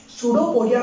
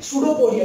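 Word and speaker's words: pseudopodia: सूडोपोडिया पर P silent होता है, ठीक है, सूडोपोडिया।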